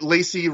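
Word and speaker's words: Lacey: but i get it lacie rhymes with spacey but um anyway obviously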